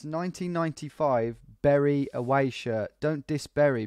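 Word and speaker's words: Bury: No, it's Berry FC. I got it from a website. Yeah, Rip Berry. It's spelled B-U-R-Y.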